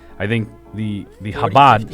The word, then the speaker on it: Chabad: Like, I think the 40, Chabad, 50.